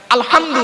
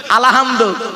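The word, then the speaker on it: الحمد: রাব্বিল আলামিন সূরা ফাতিহা আলহামদু গলার ভেতর থেকে উচ্চারণ করবেন আলহামদু মানে হচ্ছে সমস্ত প্রশংসা আল্লাহ তোমার আমরা কি বলি আলহামদু এর মানে শুনবেন সমস্ত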